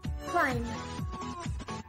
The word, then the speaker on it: climb: B is not pronounced after M at the end of word. For examples, climb, palm, comb, gum, numb.